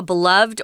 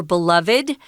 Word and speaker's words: beloved: to understand exactly how a beloved or beloved you can pronounce that word either way singer we're talking about